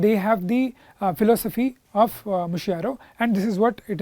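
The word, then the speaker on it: mutirão: Okay, it is Mushiro. It is pronounced as Mushiro.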